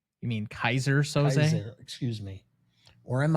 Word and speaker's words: Keyser Söze: Or am I Keyser Söze? Keyser Söze? You mean Keyser Söze?